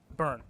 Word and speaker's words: Beirne: Mike, how do you pronounce your last name? Beirne. Okay. All right. That's an easier pronunciation than how it looks.